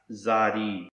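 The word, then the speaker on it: צדי: adalith and a yard and this letter is pronounced zadi it looks a little like a lowercase English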